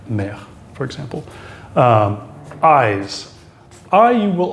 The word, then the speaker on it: mère: It's not as open as the A, it's eh. And you'll see this, for example, in words like père, father, mère, mother, eh. So this is a case where the accent does distinguish pronunciation with the E. The eh, père, mère, for example.